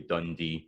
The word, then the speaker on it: Dundee: So a place like Dundee, it's da-da. Some folk will pronounce that Dundee, so that's da-da, da-da, with the stress at the end, but most of the time it'll be Dundee.